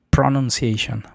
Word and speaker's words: pronunciation: Pronunciation, porque para empezar el acento o la sílaba tónica no es en pro, no es pronunciation, sino es pronun pronunciation. Fíjate bien la diferencia.